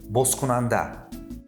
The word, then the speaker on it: бозкунанда: Also, in the opening word, the sound З [z] is pronounced like С [s]. Бозкунанда (Opener).